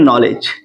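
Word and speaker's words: knowledge: देख सकते हैं आप के एन ओ डब्लू एल ई डी जी इसको क्या पढ़ते हैं नॉलेज नॉलेज नॉलेज मीस क्या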